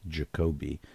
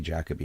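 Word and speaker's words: Derek Jacobi: and and As Americans we frequently mispronounce his name as Derek jacobe cuz that's what it looks like it's it's actually jackob and he was in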